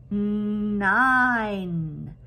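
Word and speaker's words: nine: a lot of times it's silent. But because it's silent, it makes the vowels say its name. And this is an I. So it says 9. 9. Do you see how that makes it say his name? 9, and the E does not say anything. It's a silent E.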